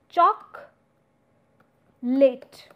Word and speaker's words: chocolate: you say chocolate so this o sound which comes in between chocolate is no more in use rather it's chalk late and further if I